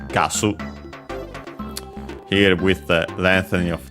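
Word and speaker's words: ガス: Accented on the first syllable, just like in English. Gasu.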